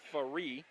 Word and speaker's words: Faree: Faree. I keep pronouncing his name wrong, and I apologize for that. It is Faree.